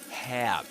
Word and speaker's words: hair: This would be typically pronounced as hair, as a diphthong, air, as the diphthong, air. But in this case, you get air. It's like an air sound, a long air sound.